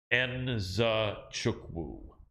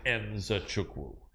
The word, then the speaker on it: Nzechukwu: And I remember how he told me it's pronounced Nzechukwu. Kennedy Nzechukwu, because everyone tries to squeeze it together, but you actually have the Nzechukwu.